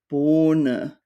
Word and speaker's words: Bohne: The H normally prolongs the vowel. So we have words like Bohne, Sahne, Ehren.